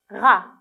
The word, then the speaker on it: rat: regardez bien c'est un rat un gr lorsque je dis rat est ce que je prononce de son nom non bien sûr je ne le prononce pas je ne l'entends pas donc je dois